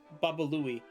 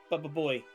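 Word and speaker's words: Baba Looey: producer Gary Del Abbey accidentally mispronounced the cartoon cat Baba Louie. Baba Boy.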